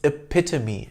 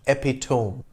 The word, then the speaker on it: epitome: achilles heel like this a lot of people pronounce this word incorrectly it's epitome not epitome epitome means a perfect example an example that